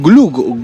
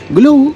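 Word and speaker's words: gløgg: Glug, yo creo que esta O, que es muy típica del danés, que es la O tachada, se pronuncia más como una U.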